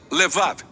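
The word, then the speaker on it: לבב: Oração coração quem hebraico se pronuncia levar ou na sua forma curta leve diferentes culturas tinham ideias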